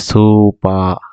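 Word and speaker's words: スーパー: আপনার উচ্চারণটা কাছাকাছি কিন্তু তারা জাস্ট সুপা উচ্চারণ করতেছে মার্কেট না উচ্চারণ করে যে সুপা সুপা এটা মনে রাখা আশা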